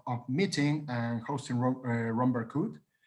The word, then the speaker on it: Berkhout: meeting and hosting ron barcode am i pronouncing your surname correctly wrong absolutely perfect uh romero good um